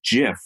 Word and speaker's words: GIF: the proper pronunciation is jif like jelly not gift like giddy just like the peanut butter it's he says it's jiff like the peanut butter